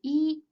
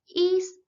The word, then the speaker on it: 一: The tongue of E may vary with the tongues of the syllable that comes after it. If it is preceded by a fourth tongue, it is pronounced as the second tongue.